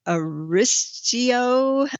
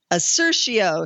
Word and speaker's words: Assertio: had amerisource bergen big pharma abc we had a ristio i can't pronounce it the one i can't pronounce assertio sorry assertio asrt is the ticker on that